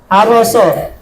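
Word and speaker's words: حَرَسَ: Yang ketiga bacanya harasa, bukan hara. Haroso.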